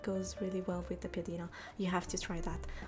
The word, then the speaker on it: piadina: I'll write it and I'll pronounce it again. Allora, it's called piadina or piada.